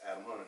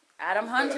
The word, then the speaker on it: Atum Hunter: So it's Atum Hunter. Straight up spell it. Atum Hunter.